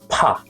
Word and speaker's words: ㅍ: First, you got to close your lips and build up pressure and then release it with a strong puff of air like a small explosion.